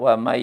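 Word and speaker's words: وَمَن: Asalnya man, kenapa jadi wa may? Nah, wa may itu hukum bacaan adalah idgham bi gunnah. Idgham artinya memasukkan nun mati atau tanwin ke dalam huruf yang 4. Ada iya, nun, mim, dan waw. Jadi kalau nun mati ketemu huruf yang 4, ya, nun, mim, waw, maka itu hilang nun matinya ya, karena masuk ke dalam huruf yang 4 itu, ke dalam huruf ya di sini, dan dibaca dengung ya.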